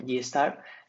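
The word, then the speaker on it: Gi*: Y después tenemos también las estadísticas de G, que la estadística de GI se pronuncia eh GStar, compara lo que son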